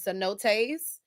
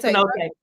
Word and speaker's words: cenote: But anyway, um so Mexico is very no like uh one of their popular tourist attractions is cenotees. Um so there's sink holes. It's cenote cenote. It's cenote.